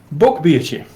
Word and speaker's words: Bockbiertje: Bockbiertje. That's how you pronounce it.